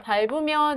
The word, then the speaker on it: 밟으면: 자, 밟으면의 경우에 여기에서는 연음이 일어나서요. 자, 밟으면 이렇게 발음하는 것이 자연스럽다고 볼 수 있겠습니다.